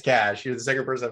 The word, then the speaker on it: cache: It's cash. You're the second person I've heard pronounce it as cache.